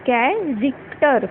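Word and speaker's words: character: फिर क, फिर ट, और फाइनल के जो लास्ट र साउंड है उसको हम साइलेंट करके ओनली अ का यूज़ कर देंगे, ये बन जाता है कैरेक्टर।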